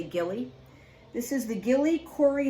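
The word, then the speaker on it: Gilli: gilly that's another brand some people pronounce it jilly it's g-i-l-l-i i say gilly this is the gilly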